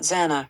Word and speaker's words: Xana: She tells the story of Zana introducing herself to the Pifi, explaining that her name is pronounced Xanax without the X.